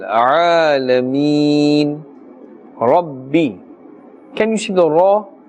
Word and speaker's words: رب: Alhamdu lillahi Rabbil Alameen. Rabbi. Can you see the ra? The ra has a fatha and therefore it's pronounced with a full mouth. We will not say Rabbi. Rabbi is incorrect.